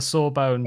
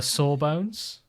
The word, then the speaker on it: sawbones: regular sawbones. But I think we tend to say saw as in like, ouch, that hurts. It is sore. As but opposed to it's phonetically, saw as in got you.